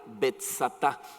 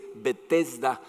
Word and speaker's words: Betzatá: rodeado de 5 pórticos cuyo nombre en arameo era Betzatá. En algunas versiones de la Biblia dice Betesda, que es como la anglicación, no sé cómo se diga de la palabra, pero en arameo se escribe Betzatá, tal como lo dice la Nueva Versión Internacional.